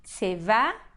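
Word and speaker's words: צבא: A gente conhece a palavra tsavá, que é exército. Se eu quiser falar, então, exército de Israel, então eu vou falar tsevá Israel. Então, olhem só aqui. Nós temos essa sílaba aqui do tzad, ela é uma sílaba átona, porque a sílaba forte é a última. E, então, o kamatz, essa vogal longa A, virou um shva.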